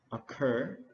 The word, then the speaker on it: occur: The bottom of the lake មានន័យថាបាតបឹងណា lake បកថាបឹងពាក្យមួយទៀតគឺពាក្យ occur អញ្ចឹងយើងសង្កត់លើព្យាង្គទី2 so we pronounce occur ជា verb វាបកថាកើតឡើងដែលមានន័យដូចគ្នាជាមួយនឹងពាក្យ happen ហើយពាក្យ happen គឺយើងសង្កត់លើព្យាង្គទី1 so we say happen occur happen ឧទាហរណ៍ when exactly